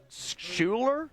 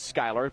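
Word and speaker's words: Schuyler: When I first moved to Nebraska, I was, you know, you look at Skyler, you think Schuler? Yeah. Is that Schuler? Is that how you say it? No, of course it is Skyler.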